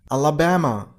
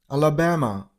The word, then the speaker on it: Alabama: Number one, Alabama. You got to stress on the third syllable. Ba. Alababama. Alabama.